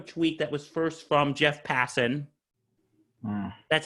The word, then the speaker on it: Jeff Passan: But he put up a tweet that was first from Jeff Passan.